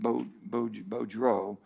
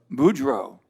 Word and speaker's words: Boudreau: john bel edwards that he pronounces it beaudreau and you would pronounce it how boudreau there's a little difference there a couple states away so what we